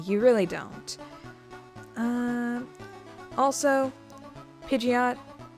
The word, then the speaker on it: Pidgeot: into its final form Pidgeot or pidet if you're like one of those kinds of pronunciator at level well at